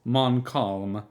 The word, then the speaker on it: Montcalm: Marquis de Montcalm, the ultra-royalist Marquis Decadent de Montcalm, pronounced Montcalm, my calm, 1775 through 1857.